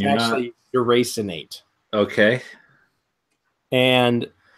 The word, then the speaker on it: deracinate: Deracinate. Deracinate? That's how it's pronounced.